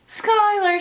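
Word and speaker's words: Schuyler: the last name I did learn that is Skyler I play it for you right now we can we mustn't do it together skype my sister yet let's go do it one more time Skyler sisters yeah misfits it spells shooting Schuler chew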